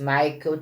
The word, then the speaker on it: Michel: Michael escreve-se Michel Chollen e pronuncia-se Michael Chollen.